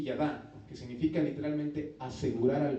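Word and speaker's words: יָדַע: El verbo es un verbo hebreo llamado, se pronuncia así, yadá, que significa literalmente asegurar al ver.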